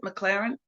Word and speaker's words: McLaren: Lucy McLaren, is that how you pronounce it? McLaren?